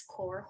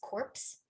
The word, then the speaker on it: Corps: And in the case of corpse and core, which even native speakers often mispronounce, so this core is often mispronounced as corpse by native speakers, as in, let's say, the Peace Corps.